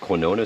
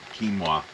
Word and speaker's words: quinoa: of oats and apples in there uh with quona seeds how do you how do you say it quinoa quinoa seeds hemp seeds um don't eat this